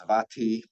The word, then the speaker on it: Sravasti: The first temple that he founded at Sravasti, sometimes pronounced Savati, which was consecrated in 1988.